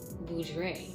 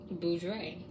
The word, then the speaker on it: Boudre: I pronounce it that way because that's the way my dad pronounces it.